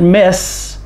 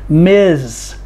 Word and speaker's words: Ms.: Big M, small s, period, but we do not pronounce it miss. The S has the Z sound, Ms. We call them Ms.